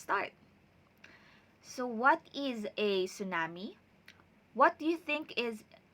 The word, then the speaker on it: tsunami: so our new lesson for today is about tsunamis so we read or we read it as